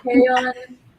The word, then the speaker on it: Crayon: Crayon, whose name rhymes with rayon.